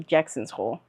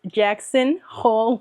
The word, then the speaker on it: Jackson Hole: I always say it wrong. I want to say Jackson's Hole, but it's Jackson Hole, Wyoming.